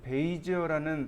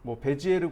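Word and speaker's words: Bézier: 이 곡선을 계산하는 방식 중에 몇 가지가 있는데 그 중에 맥스는 베이지어라는 사람이 개발한 곡선 방식을 사용합니다. 영어식 발음으로는 베이지어고 프랑스식 발음은 베지에르입니다. 그러니까 베이지어 곡선, 베지에르 곡선 똑같은 말이에요.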